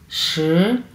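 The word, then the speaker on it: 十: আমরা কীভাবে উচ্চারণ করবো, শ, শ, শ, শ। আমরা ইংলিশে যেভাবে হোয়াট বলি, হোয়াট, ওই সেম ওই টোনটাই হচ্ছে এটা, হ্যাঁ, ওই উচ্চারণটাই সেম 2 নাম্বার টোন চাইনিজের।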